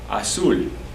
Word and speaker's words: azul: Azul, azul, A-Z-U-L, accent on the U, azul.